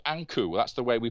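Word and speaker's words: ankh: one who lives then ania is the way that the egyptians pronounce what we call today ank a nkh the sign of life so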